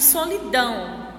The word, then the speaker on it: solidão: Então, a gente pode observar aí duas palavras, planeta e solidão. As sílabas mais fortes são ne em planeta e dão em solidão.